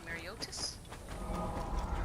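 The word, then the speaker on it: Mareotis: Lake Mariotis? See, that's how that's pronounced.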